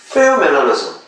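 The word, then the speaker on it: pheomelanosome: 그 다음에 페오멜라노좀. 페오. F 발음이 나거든요.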